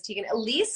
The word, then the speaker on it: Tiegan Alysse: repair otherwise known as Tegan Elise am I pronouncing that right you are but that is my